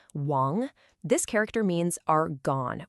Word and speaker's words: 亡: It's pronounced chu and it simply means the lips. Next up, we have Wong. Wong.